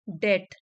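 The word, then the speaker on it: debt: to repay the डेट यहां पर B silent है इसको बोलेंगे डेट मतलब ऋण सो प्रकाश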